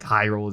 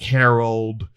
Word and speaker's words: Hyrule: or the town like hyrule the city of hyrule but um me and my brother will mistakenly pronounce it as like harold or like there's like